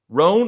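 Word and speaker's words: Rhone: Roan is spelled R-H-O-N-E, just in case you didn't know.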